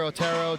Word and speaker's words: Otero: Or Otero is the American name, but Otero. Otero. Is the Spanish pronunciation, which he taught me a few hours ago.